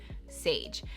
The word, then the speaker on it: Saige: for a girl and it was Sage. And it's spelled differently. I wanted it to be spelled S-A-I-G-E. Sage.